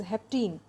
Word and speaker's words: hapten: start today's lecture so haptens which are usually pronounced as Hep teen it means too fast and it is a